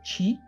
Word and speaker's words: qi: famoso y siempre mencionado chi, se escribe QI, pero se pronuncia chi, y este chi está integrado por dos grandes fuerzas opuestas, el yin y el yang, ¿sí?